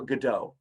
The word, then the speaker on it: Godot: The playwright is named Samuel Beckett, and the play is called Waiting for Godot. Or sometimes it's pronounced Waiting for Godot. It doesn't matter either way.